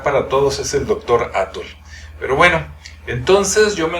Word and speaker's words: Atl: México, de la capital, casi no pronuncian la O ni la L, así como que el doctor Atl, y la L así como que muy cortita y muy forzada, ¿no?